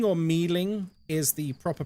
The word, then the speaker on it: Myling: Yeah, that's actually how it's pronounced. Muleng or Mealing is the proper pronunciation. Not Myling.